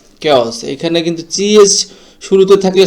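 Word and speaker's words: coup: কুর এখানে কিন্তু যে শেষে যে পি আছে পির উচ্চারণটা হবে না তারপরের শব্দটি হচ্ছে সুডোনিম অনেকে সিউডোনিম বলেন তো এটা আসলে সোডোনিম সঠিক উচ্চারণ।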